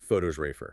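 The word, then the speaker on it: photographer: The noun pho to graph stress on the first syllable versus the related noun photosrafer. Oh, where the stress jumps to the second syllable.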